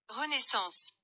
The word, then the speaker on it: Renaissance: फ्रांसीसी में इसका प्रोनाउंसिएशन कुछ इस तरह है, Renaissance, Renaissance, रेनेसांस लफ्ज दरअसल एक इटालियन लफ्ज रेनेसिमेंटो से माखूज है।